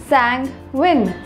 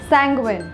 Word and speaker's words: sanguine: for today is sanguine it is pronounced as sang win sanguine it means being optimistic